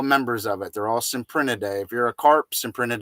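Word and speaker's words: Cyprinidae: and they're all members of it they're all symprint a day if you're a corpse imprinted day koi sin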